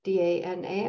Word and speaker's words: Dana: therapist named Deb Donna d-a-n-a I pronounce it Donna because of Paulie but maybe it's Dana um in 2018 wrote